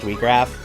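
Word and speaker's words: Wiegraf: I hate that it's pronounced WeGraph. I'm still going to do it, because that is how it is officially pronounced, but I don't care for it.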